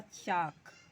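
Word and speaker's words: chalk: इसका क्या होगा, चाक, यहाँ पर एल साइलेंट है।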